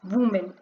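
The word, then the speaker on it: women: अब यहाँ पे देखो जो वुमेन है उसका प्रोनाउंसिएशन WOMAN, वुमेन का प्रोनाउंसिएशन वुमेन है, लेकिन जब ये प्लूरल फॉर्म में कन्वर्ट होता है तो इसका प्रोनाउंसिएशन हो जाता है वी मेन।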